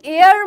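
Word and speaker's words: heir: তাহলে এয়ার মানে কি? উত্তরাধিকারী। এখানে এইচটা কিন্তু সাইলেন্ট থাকবে, এটার প্রোনাউন্সিয়েশন অর্থাৎ উচ্চারণ কিন্তু হবে না। এয়ার মানে হচ্ছে উত্তরাধিকারী, উত্তরাধিকারী।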